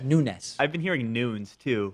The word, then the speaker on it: Nunes: memo drama is that people just can't seem to pronounce Devin Nunes correctly. No, I'm kidding. That is a frustration, people calling him Nunez. But of course, when you see those typically Spanish names with an S on the end, that's like the Portuguese version of those names.